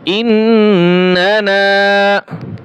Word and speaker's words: إننا: الذين يقولون ربنا إننا ইন্না এই নুনে টান হবে না, তারপরে একটা নুন আছে, এইটা টান হবে। ইন্নানা আমান্না ফাগফির লানা যুনুবানা